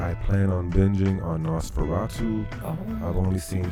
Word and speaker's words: NOS4R2: He wrote a book called Nosferatu, but it's spelled N-O-S and then the number 4, the letter R and 2. Nos4R2. Because that's what's on the guy's license plate.